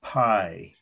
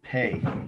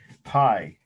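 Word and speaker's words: Pei: week 15 it's the architect's name is pi some people announce it pay that pi is correct and um i i'd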